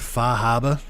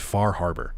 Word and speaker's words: Far Harbor: in Massachusetts uh you you have to call it far Harbor okay pronounce those ours but me I got privileged I'm allowed to call it faraba uh because because it's